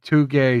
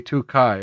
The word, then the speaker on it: Takei: Too gay, too kai. Okay, that's what Sanglant was saying. He pronounces it too gay, too K.